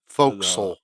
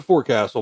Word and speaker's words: forecastle: the uh the forecastle or the the folks. Folks, yeah, your pronunciation is correct.